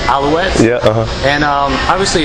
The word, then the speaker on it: Alouettes: Yeah, Montreal Alouettes. Alouettes?